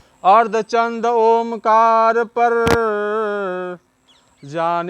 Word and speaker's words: ओम: इस ओम का शुद्ध उच्चारण ऊपर के अर्धचंद्र और बिंदु से ही संभव है, नहीं तो मात्र ऊ रह जाएगा।